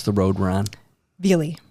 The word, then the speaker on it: Velie: How do you pronounce the road we're on? Velie. Velie.